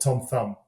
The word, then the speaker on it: Tom Thum: And I commissioned a long form ad, if you will, with a guy called Tom Thumb.